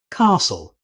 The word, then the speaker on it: castle: Castle. The T is silent here as well. Instead of saying every letter, native speakers pronounce it castle.